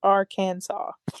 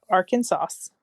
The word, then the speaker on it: Arkansas: illegal to pronounce the state's name the correct pronunciation is Aransas not Aransas reflecting its French and Native American Heritage this